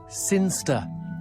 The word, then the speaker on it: Sinchester: Sinster. What? It's pronounced Sinster. How do you know? My cousin's from Sinster.